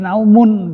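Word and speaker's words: نَوْمٌ: Jadi bacanya bukan sinatan atau sinatin, karena yang dari awalnya sinatun maka ini juga dibacanya jadi naumun gitu, sama-sama dhammah.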